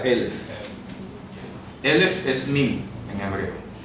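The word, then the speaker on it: אלף: Se pronuncia Elef.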